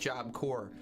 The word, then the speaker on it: Job Corps: a three-time felon and it's pronounced job core you whoa andrew if